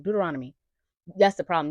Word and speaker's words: Deuteronomy: Deuteronomy. That's the problem. You got to say it fast. If you say it slow, it's gonna sound crazy. Deuteronomy.